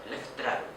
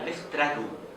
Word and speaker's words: Leftraru: Leftraro. Incluso más que Leftraro era Leftraru en U.